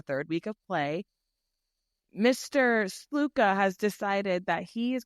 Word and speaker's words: Sluka: Yes, Sluka.